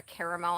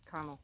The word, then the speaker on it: caramel: go and order a caramel apple no one says that jackie says it's caramel you're leaving out an entire syllable jeremy is right carmel i say it both ways sorry folks oh